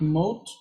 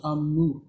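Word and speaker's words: אמות: Not mot, but amut. It's a Amut.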